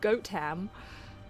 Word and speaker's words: Gotham: Keep those front doors locked It's and pronounced goat ham.